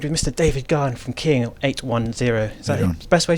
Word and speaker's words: King 810: David Gunn from King 810. Is that the best way to pronounce it, with a 0 or an O? O is the way we pronounce it, but I don't think